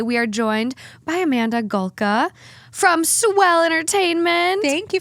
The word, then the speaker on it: Polka: and today we are joined by Amanda gulka from swell entertainment thank you for having me